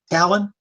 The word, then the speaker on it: Tallinn: Is that how I pronounce that? It's a city, Tallinn.